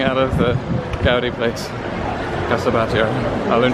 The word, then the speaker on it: Casa Batlló: Casa Batlló. I learned how to pronounce it.